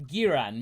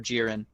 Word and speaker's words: Jiren: They'd have an argument about whether or not it's pronounced Giran or Jiren. Yes. Like GIF and GIF. No, it's actually Jiran.